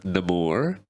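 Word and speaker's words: Namor: anything but um do you really liked um the more that's how you say his name right yep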